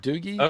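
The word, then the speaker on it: Doogee: There's also I don't know how to pronounce it, but Doji or Doogie or Doogie, I think is actually believe it or not, that's how they say it. Yeah, Doogie.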